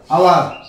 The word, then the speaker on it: hour: আবার একটি ওয়ার্ড রয়েছে যেমন HONEST, এটা হচ্ছে অনেস্ট, আরটা আছে HOUR, আওয়ার, ঠিক আছে, আওয়ার রয়েছে। তো দেখো দুইটাতে কিন্তু এইচ রয়েছে, তো এইচ এর উচ্চারণ, ঠিক আছে, এইচ এর উচ্চারণটা তার নিজের রূপে হয় নাই, ঠিক আছে।